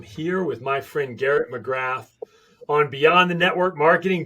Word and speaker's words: McGrath: In Ireland, we actually don't pronounce our THs. That's how we can say 333, and I'm going over there. So people always go, how do you pronounce your name, Garrett McGrath? And it's because we don't pronounce their THs.